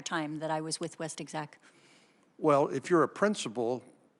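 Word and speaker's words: WestExec: How do you pronounce it? West Exec.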